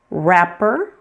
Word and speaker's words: wrapper: Sometimes you'll find words that begin with WR. In this case, pretend it is just an R. That W is silent.